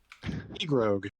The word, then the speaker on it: Egroeg: Egrog. It's spelled Egroeg. They have to walk backwards.